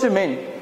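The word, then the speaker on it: שמן: So oil, Shemin. So oil is Shemin, and it's spelled Shin Mem Nun.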